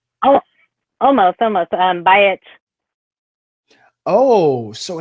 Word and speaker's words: Bajic: So Bajic, did I pronounce that right? Bajic? Oh, almost. Bajic. Oh, so it's kind of all right. Bajic.